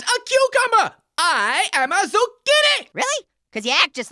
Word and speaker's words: Zucchini: Great, I'm Zucchini, rhymes with Houdini.